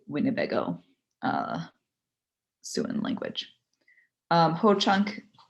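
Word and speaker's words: Hoocąk: uh soon language um ho chunk the reason why it's filled with two o's is because it's a long a long o um and i'll go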